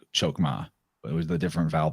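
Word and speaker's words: Chokmah: through the sphere of chokma or actually more appropriately pronounced hokma hokma and uh that's spelled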